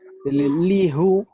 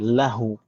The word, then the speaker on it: lahu: Karena kalau dipaksakan pakai kasroh itu berat untuk diucapkan. Lihu, aduh, kita aja berat.